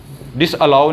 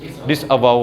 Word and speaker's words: disavow: डिसअलाउ करवा दे, डिसअलाउ नहीं होता, डिसअवाउ होता है। ये स्पेलिंग देख लें, ये स्पेलिंग होते हैं DISAVOW, डिसअलाउ नहीं डिसअवाउ।